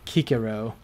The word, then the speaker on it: Cicero: pronounced as a k so cicero would sound like kikiro yeah but nobody's gonna